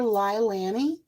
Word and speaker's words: Leilani: And I call her Leilani. That's the way I pronounce her name.